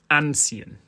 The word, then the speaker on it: anziehen: to the fact that the stress is on the first syllable of ancient we therefore follow these